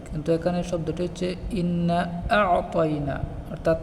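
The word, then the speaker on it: أَعْطَيْنَا: এখানে শব্দটি হলো ইন্না আ'তাইনাকা, কিন্তু আমরা পড়ি ইন্না আ'তাইনা, এভাবে পড়ি। কিন্তু এখানে শব্দটি হচ্ছে ইন্না আ'তাইনা, অর্থাৎ আইনটি স্পষ্ট হবে, কিন্তু আমরা পড়ি আউ, অর্থাৎ হামজা দিয়ে পড়ি।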